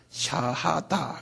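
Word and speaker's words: shahada: 샤하다. 그래. 이거 우리 다 알아들 필요 있어요. 한번 발음해 보실래요?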